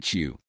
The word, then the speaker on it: SHU: The shu pronounced shoe by inmates and staff alike.